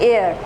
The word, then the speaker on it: heir: HEIR, एयर, इसमें भी H silent है।